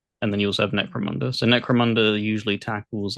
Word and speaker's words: Necromunda: Is it Necromancer Hard Gun? Necromunda. Necromunda Hard Gun.